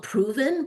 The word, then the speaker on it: PRVN: It's called Proven, but it's not spelt with an O Yeah, I'll or an start.